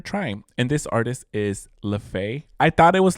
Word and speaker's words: Laufey: And this artist is Lefay. I thought it was Lefay, but you pronounced it Ley.